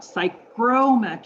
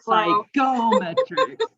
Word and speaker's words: psychrometrics: So Note, psychrometrics, sorry, not psychometrics, right?